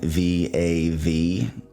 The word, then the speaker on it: Vav: Think of the U like a soft V.